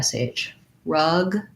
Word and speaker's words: shrug: is that if i start with the r then it's easier to do the shr because i can just keep my tongue back there in that r position and only really move the lips forward and the tongue a little bit forward to do the sh so rug shrug that tends to set up your tongue to be ready to go into that r and then shrugged good